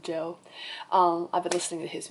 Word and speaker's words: Djo: I think he pronounced his artist name as Joe. Like, it's just DJO, but I think he pronounced it Joe.